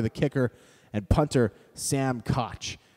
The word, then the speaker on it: Koch: And punter, Sam Koch. Though I know some people who have that name prefer it to be pronounced Coke, though I'm not 100% sure.